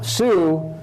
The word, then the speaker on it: Sioux: we we had now sue is a french name pronounced that's how the french heard the name else was apparently what